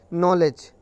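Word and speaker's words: knowledge: एन के पहले जब भी के आएगा तो उस के को नहीं पढ़ते हैं, मतलब वो साइलेंट होता है। जैसे नॉलेज, नॉलेज में भी के एन ओ आता है, तो मतलब एन के पहले नो आया।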